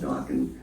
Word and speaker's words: Dokken: So I said, we'll just call it Dokken, and it rhymes with rockin', and we'll see what happens.